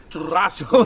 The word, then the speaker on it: Churrasco: Churrasco.